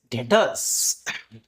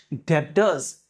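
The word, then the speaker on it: debtors: That is डेटर्स। नाउ इनका correct pronunciation is नॉट डेडस। Correct pronunciation इनका क्या है? डेटर्स है। मतलब बी इज साइलेंट।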